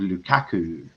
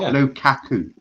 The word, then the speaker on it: Lukaku: Lukaku, not Lukaku. Like Kaka. It's Lukaku. Yeah, like Kaka.